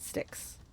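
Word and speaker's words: Styx: "Okay, do you guys pronounce it sticks or stikes?" "I pronounce it sticks."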